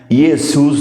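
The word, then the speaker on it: Ἰησοῦς: aqui sobre o nome Jesus yesus né Se for do do grego ou Yeshua se for do hebraico eh esse primeira essa primeira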